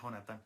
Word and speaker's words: Jonathan: Es que tenemos un fraile que se llama Jonathan, pero él se pronuncia Jonathan, como el de la Biblia.